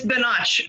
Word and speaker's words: Binach: to say it wrong no it's it's binach so her family's cuban so you pronounce it like it's a spanish word a notch okay llp we can